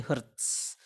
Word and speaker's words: Hz: Jadi Bapak tuliskan di situ supaya bacanya itu bukan Hz tapi Hertz. Meskipun tulisannya Hz.